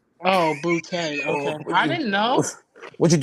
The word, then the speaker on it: Boutte: Miguel, rebuttal, Miguel. As far as that situation, Booty. Yeah, go ahead. Booty. We're talking about Booty. Yeah, Booty. Why are we laughing? Because ain't that boy name? It's Boutte.